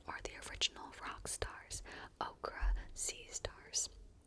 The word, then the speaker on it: ochre: I said okra this time because it's spelled O C H R E. So maybe it's okra, not ochre. Okra, like the vegetable. That's not how it's spelled either, the vegetable, the vegetable. But I'm going to stick with ochre.